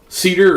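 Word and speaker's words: CIDR: Cedar or cider, depending on how you pronounce it, is the next one.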